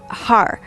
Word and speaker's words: har: practice with uh har so h-a-r and if you can roll your r's then that's great like i'm not really that very good at it so um if you can roll your r's you'll do ha with the rolled r um you're just going